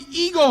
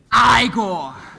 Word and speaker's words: Igor: wish Master ah master so you must be eigor no no no it's pronounced aore well they told me it was pronounced eagor well they were wrong then weren't they anyway did